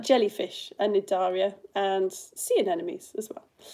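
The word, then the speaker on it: Cnidaria: coral is in the nidaria the sea is silent phylum which means it's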